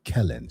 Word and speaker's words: Kellen: And um we have the pleasure this evening of talking to Yaya or Helen's Kellen's Kellen. She told me the correct pronunciation of her daughter's name. It's Kellen like Helen.